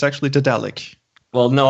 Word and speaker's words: Daedalic: Did they actually phone you up and say, "I'm sorry, it's actually Daedalic"? Well, no, I pronounce it according to Daedalus because I speak properly.